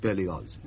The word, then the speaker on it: Berlioz: I'm sorry, but the name is Berlioz. German in origin. The family has lived in Savoy for generations, of course, but it is pronounced Berlioz.